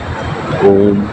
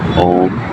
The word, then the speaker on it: ओम: ठीक है, तो सही उच्चारण होता है और सभी एक तिहाई होना चाहिए। ये नहीं कि थोड़ा लंबा कर दें, वो जल्दी से बोल दें फिर माँ, ऐसे नहीं।